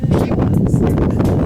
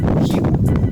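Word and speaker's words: hiwa: Hierba en quichua sería jiwa. La H se pronuncia J, H-I-W-A, jiwa, H-I-W-A, jiwa.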